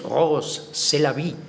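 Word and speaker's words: Rrose Sélavy: Rose c'est la vie, que suena a inglés, pero si lo pronunciamos en francés, Rose c'est la vie.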